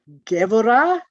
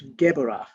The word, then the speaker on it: Gevurah: This circle is pronounced Gevurah, but is spelled G-E-B-U-R-A-H. But a B in the middle of the word is pronounced V. So it's Gevurah, Gevurah.